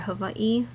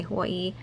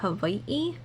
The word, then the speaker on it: Hawaii: V's so when you hear or Havi those are both correct pronounce I mean okay a lot of local people and people who live here make it easy and just say Hawaii corre correct pronunciation would be h or Havi if we're getting even more technical but yeah I digress